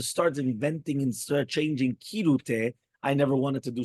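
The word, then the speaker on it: כרעותה: That is the regular rule for the first letter of a word. Many people, however, pronounce it with a chaf. There is basis to justify their pronunciation as well.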